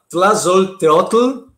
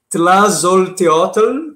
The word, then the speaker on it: Tlazolteotl: Essa pintura se chama Tlazolteotl, tá? Eu pratiquei aqui em casa para impressionar vocês com a minha pronúncia do Nahuatl, tá? Porque essa é uma palavra asteca, né? E Tlazolteotl, talvez, né?